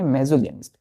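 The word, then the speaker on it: misogynist: तो जब हम लिखते हैं बच्चों तो इसको MISO GYNIST लिखते हैं, लेकिन जब हम इसका प्रोनाउंसिएशन करेंगे तो क्या करेंगे? मेजोगेनिस्ट। क्लियर है?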